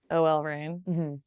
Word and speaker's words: OL Reign: All right, so this year, it's your first year with Rain, OL Rain. That's the right way to say it.